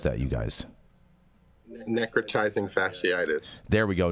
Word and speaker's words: necrotizing fasciitis: How do I pronounce that, you guys? Necrotizing Fasciitis. There we go. Necrotizing Fasciitis, you guys.